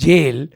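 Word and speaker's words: gaol: the English language yes g a o l is pronounced jail and g-o-a-l is pronounced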